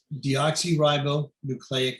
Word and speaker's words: deoxyribonucleic: dna the actual word deoxyribonucleic acid thank you yes it's d oxy because it's missing an oxygen it was showing a